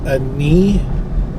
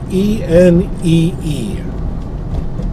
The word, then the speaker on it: Enee: structure down there called, I think we're assuming it's pronounced a knee. It's Enee. So that's how you spell it. But it's Enee Point.